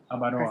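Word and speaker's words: Abaroa: So how do you say that? Avaroa? Yes. Avaroa.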